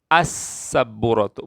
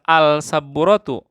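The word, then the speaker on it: السبورة: sabbuurotun masukkan alif lam Gimana bacanya AS sabbuurotun bukan Al sabbuurotun tapi as sabbuurotun darrojatun bacanya ad-darojat Wali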